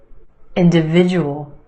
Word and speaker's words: individual: find your schwa benefit individual individual five syllables in this word emphasis on the third syllable that is sound individual individual the second syllable is where you have the schwa in the end individual individual try this